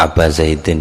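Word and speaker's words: أبا زيد: Sa'ad bin Ubaid hua tegese wa aba zaidin ini mestinya bacanya insyaallah wa aba zaidin.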